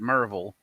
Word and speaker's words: Maryville: We also have Maryville, which is Maryville, but we pronounce it Merville.